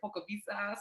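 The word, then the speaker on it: Polkowice: So Pokavice. W's in Poland are a V. Don't worry, girl, because I think I say it wrong too, but I know that the W is a V.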